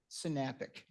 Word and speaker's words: Synapic: number 2 is, and I'm going to get this wrong, so I'm looking at Rachel or the mayor or the city manager because they were correcting me earlier. Synapic? Synapic. I always mispronounce something, so tonight it's Synapic.